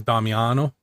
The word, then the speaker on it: Damiano: When my family came over, it was actually DAM, so it was Damiano. And some people try and do that still. But when I teach kindergartners how to say it, I do this little rhyme thing and move my head with the word piano. Piano, Damiano.